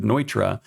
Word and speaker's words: Neutra: Neutroface slab is actually Nitroface slab, named after Richard Nitra.